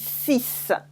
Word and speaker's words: six: to what after it so on its own to serve on its own fix is cease cease okay if you have